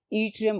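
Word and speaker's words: Yttrium: त्रियम ठीक है स्टूडेंट्स वा डबल टी से इसकी स्पेलिंग शुरू होगी लेकिन प्रोनंसिएशन इसकी है त्रियम और उसके साथ एक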